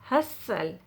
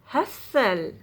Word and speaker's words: hustle: n t l e you do not pronounce a t in this word normally silent t if a word ends